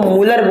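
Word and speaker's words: Mulder: थे मूलर नाम के एम यू एल डी ई आर लिखा जाता है बट हिंदी में इनको मूलर बोला जाता है डी जो होता है वो यहां पर साइलेंस रहता है साइलेंट रहता है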